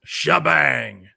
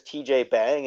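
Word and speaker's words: T'Jbang: Because on the commercial it's pronounced as Shabang. That's what I was actually as a kid I always read it as TJ Bang, and then I think that's how I did.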